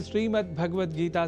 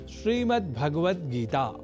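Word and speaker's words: श्रीमद्भगवद्गीता: जैसा कि मैंने उच्चारण किया श्रीमद्भगवत गीता जिसे अनवधानतावश हम श्रीमद्भगवत गीता या श्रीमद् भागवत गीता या भागवत गीता कर जाते हैं जो सर्वथा अशुद्ध है।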